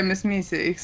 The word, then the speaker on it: MsMeseeks: Speedy, you got any questions for MsMeseeks? Is that how you say it? Yeah, MsMeseeks. Like, have you seen Rick and Morty?